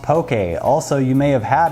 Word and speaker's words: poke: of poke a it's spelled P oke but pronounced poke a also you may have had it but on